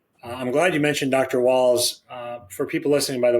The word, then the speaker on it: Wahls: Walls. For people listening, by the way, it's Terry Walls. It's spelled Wahls.